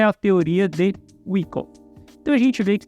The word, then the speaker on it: Wyckoff: Por quem fala é aí que eu pronuncio errado, porque eu falo Wyckoff, e certo é Wyckoff.